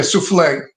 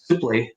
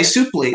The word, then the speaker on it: Suplee: Yeah, souffle. Suplee. No, not souffle. Oh, not souffle. Suplee. I know. I'm being sarcastic. I forgot. It's French. You have to pronounce it French.